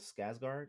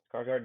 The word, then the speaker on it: Skarsgård: Um, I always mess up his last name, but Bill Skarsgård, I think that's how you pronounce his last name. Skarsgård, yeah, yeah.